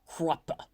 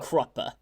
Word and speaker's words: Kruppe: The guy always says like Kruppe in this nice way, so I've always said it Kruppe.